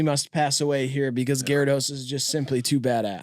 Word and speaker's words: Gyarados: We all say Gyarados. Everybody did from the beginning. And nobody was like geridos. Like nobody ever did anything.